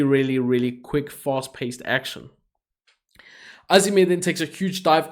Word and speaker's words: AZM: Our next match was Mayu Iwatani, the current IWGP Women's Champion, taking on Azime, or it's spelled AZM, but Azime, for obviously the IWGP Women's Championship.